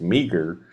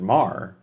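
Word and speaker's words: Meagher: It's Meager, but a lot of people will pronounce it Mar, depending on where they are, what part of Irish or Ireland they're from. They are also high. But Mar or Meager.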